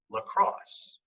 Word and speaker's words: lacrosse: The iamb, or iambic, is a foot of two syllables. The first one is unstressed, and the second one is stressed. So a good example of that in the English language is the word lacrosse.